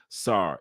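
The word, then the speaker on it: Tsar: Zars which is Sara actually my bad some pronounce it Czar some present pronounce it SAR it's t s a r SAR don't forget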